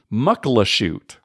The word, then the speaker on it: Muckleshoot: Even though I grew up there, I also mispronounced the name for most of my life. It's actually Muckleshoot. Right? Muckleshoot. I like that even better. I know. It just looks like Muckleshoot.